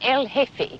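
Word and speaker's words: jefe: G E F E the J is silent. El hefe.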